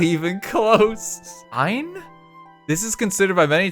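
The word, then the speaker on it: ع: Basically say ah, but retract the throat muscles by your Adam's apple, or the female equivalent, to compress the airflow of your throat. It's like choking yourself with your own throat.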